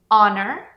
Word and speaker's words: honor: francês e grego e, porém, a gente não pronuncia essa letra H mesmo que está no começo das palavras. Essas palavras são our, honest, honor, air e a maior